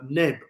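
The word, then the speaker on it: NEBL: tell you this there's a nib I think it's spelled uh you pronounce it it's n e b l i think it is nibble something like that well binance we're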